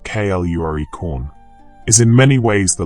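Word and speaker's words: Clurichaun: The Clorishorn, whose name is usually pronounced Kluricorn, is in many ways the leprechaun's dark twin.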